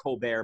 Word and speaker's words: Colbert: and you'd have colbert it's pronounced colbert by the way i think his christian name is stephen colbert but his stage name is colbert um he uh he